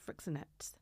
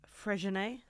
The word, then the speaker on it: Freixenet: You know I call it Frixonet, but I'm fully aware that it's not pronounced Frixonet. It's called Freixenet.